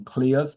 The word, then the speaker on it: Cleus: That's why I actually gave people the pronunciation of my name Cleus and I use the word nucleus.